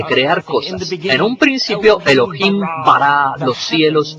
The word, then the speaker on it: Elohim: en inglés serían más o menos así se pronuncia Elohim repitan Elohim en un principio Elohim creó los cielos y